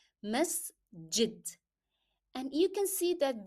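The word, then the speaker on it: مسجد: Then pronounce jim as in jar. Masjid.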